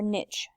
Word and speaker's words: niche: And what is the difference between an organism's habitat and its niche or niche? Either pronunciation is correct.